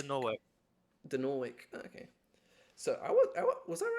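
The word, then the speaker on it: Dinorwic: Um, Dinoric Quarry, yeah, I'd probably say like Denoric, but Dinoric.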